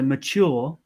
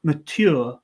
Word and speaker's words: mature: word it's and especially in british english it's always going to be a more of a ch sound than a sound so